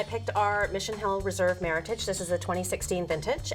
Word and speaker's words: Meritage: And so just remember it, some people call it Meritage, but it is Meritage. Okay. Just remember it. I've heard Rhymes with Meritage.